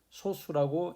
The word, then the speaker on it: 소수: 초등학교 때 배웠던 분수, 소수 할 때 그 소수가 아니고 소수라고 읽고 짧게 발음하세요.